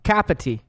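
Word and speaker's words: Kapiti: I'm saying it wrong kappa t kappa t you know it's like cup of tea but capita of New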